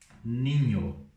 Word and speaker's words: niño: Então, assim, menino em espanhol a gente fala da seguinte forma: ninho. Ninho. Lembra do N com o tio em cima que tem o som de NH?